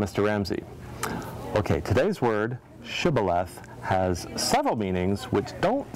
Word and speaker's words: shibboleth: Can you say shibboleth? And they would say Sibboleth, because they couldn't pronounce the SH, and then the Ephraimites would kill them.